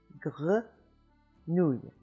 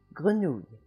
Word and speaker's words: grenouille: The French R is made in the back of the throat by raising the back of the tongue up higher and higher until it just hits the back of the soft palate in the back of your throat there, and you make a little friction, and you have grenouille, grenouille.